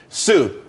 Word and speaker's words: Tsu: there's more money and everyone could be happy Sue TSU it's pronounced Sue though that's that's a website.